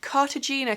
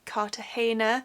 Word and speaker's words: Cartagena: And then I'm wearing the Cartagena cami, although people have told me in the comments that it should be pronounced Cartagena, so I'm really sorry if I've been pronouncing that wrong all along.